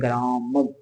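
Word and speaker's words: ग्रामं: उसके बाद में अनुस्वार, अनुस्वार का कोई व्यंजन होगा, स्वर होगा, स्वर होगा या व्यंजन हो सकता है, उसके ऊपर क्या बिंदु होगा, तो उसको उच्चारण होता है मैं। जैसे मैंने लिखा ग्राम, उसके ऊपर बिंदु लगा दिया अनुस्वार, उसको बोलते हैं ग्रामम।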